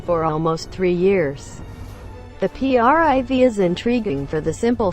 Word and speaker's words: Priv: a blackberry you get the priv pronounced priv not cry or breathe a device that s